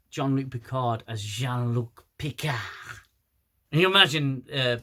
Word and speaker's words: Jean-Luc: eating Picard now I I know that sometimes I uh pronounce it as Luke but it's not it's Jean-Luc Picard valik says Hey